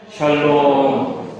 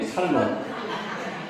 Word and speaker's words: 샬롬: 샬롬, 샬롬. 여러분에게 평강이 있으시기 바랍니다. 예. 어떻게 잘못 발음하면요, 살롬이 돼요. 살롬.